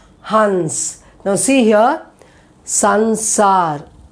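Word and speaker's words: संसार: Sansar. It's not samsar. It is sansar. Sansar.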